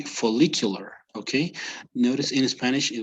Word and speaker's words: follicular: the faces, the pronunciation of the faces, follicular and Okay, luteal. it would be follicular.